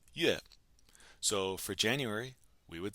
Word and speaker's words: 月: And the character for month is pronounced 月.